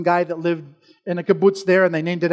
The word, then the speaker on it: kibbutz: means so this is it is a kibbutz not keyboard key boots key boots in Hebrew means uh